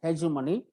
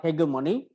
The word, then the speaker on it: hegemony: famous for key concepts one is hegemony or hegemony you can pronounce it either way they give money